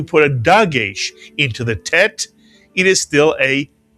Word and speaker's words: Tet: These two letters make the same sound, but this letter is called a Tet. It rhymes with bet.